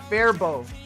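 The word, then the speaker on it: Faribault: Fairbolt or Fairbolt is wrong. It's Fairbow.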